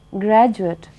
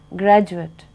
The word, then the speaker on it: graduate: u a t e when the word graduate is used as a noun it is pronounced graduate but when it is used as a verb it is used as